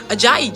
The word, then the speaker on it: Ajayi: And I'm just like, Ajayi, just like it's spelled. Ajayi. All 3 syllables, no tricks.